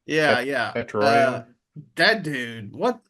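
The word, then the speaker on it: Tetairoa: Tetrario.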